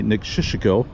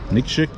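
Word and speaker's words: Nikšić: The bartender in Podgorica told me Niksic, which I think I get pretty close on that. I think that's from here, actually. Will make perfect sense. Niksic.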